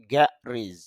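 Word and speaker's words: garage: মানে ফাঁকা আর কি গ্যারেজ যদি আমরা এ উচ্চারণটা গ্যারেজ বলি তবে আইপিতে দেখতে পারছি গিজ গর মধ্যে একটা ফোটা দেওয়া আছে যেটাকে বলা হয় স্ট্রেস সিম্বল। অর্থাৎ এখানে চাপ দিতে হবে। তাহলে উচ্চারণটা হবে গরিজ।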